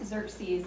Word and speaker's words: Xerxes: Xerxes. You'll be thinking about that tonight when you get ready to hit the hay. So according to a Greek historian, he describes him this way. He describes Xerxes as the tallest and most handsome of the